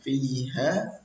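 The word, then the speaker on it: فيها: Itu fa'ambatna fiha habba. Kadang dibaca fa'ambatna fiha habba, fa'ambatna fiha habba. Lagi-lagi fiha ini tidak dibaca panjang, hak domirnya itu tidak dibaca panjang, seharusnya dibaca panjang.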